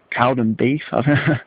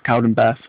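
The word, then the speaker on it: Cowdenbeath: there and then again say cowden beef or death cowden beth that's how you say it uh one of my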